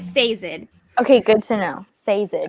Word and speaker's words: Sazed: I don't know how to pronounce his name, but according to the audiobook, it is Sazed.